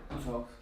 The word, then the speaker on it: talk: Igual que talk. La L no suena, ¿no?